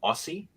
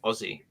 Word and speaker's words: Aussie: SS i e and it's not Aussie it's Aussie so yeah so a